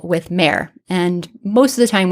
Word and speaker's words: mr: This sign represents the sounds of M and R. In modern times, we pronounced it mer.